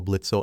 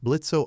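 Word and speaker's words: Blitzø: adopted by said imp blitzo o is silent when you were 17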